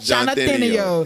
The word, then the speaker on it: Johnathanio: he told me like Arsenio. Just like Arsenio, but Johnathanio.